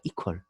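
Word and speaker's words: equal: 이꼬르의 영식 발음은 이퀄입니다. 이퀄. 예. 이퀄도 아니고 이퀄. 예. 강세가 이에 있습니다.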